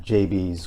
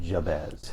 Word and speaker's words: Jabez: I grew up here in Plymouth and pronounced it JB's corner. Sure. I started working here, and they said we pronounce it Jabez.